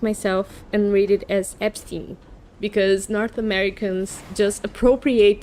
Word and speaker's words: Epstein: the Epstein files, because you guys say Epstein and it's not the way you should be saying it. Because if you were us saying it, we would say Epstein because it's a German origin name and the IE means I, so it should be Epstein.